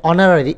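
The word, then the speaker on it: honorary: তো এখানে অনারারি এইচ এর উচ্চারণ হয় না, বেসিক্যালি ভাওয়াল সাউন্ড আসে প্রথমে।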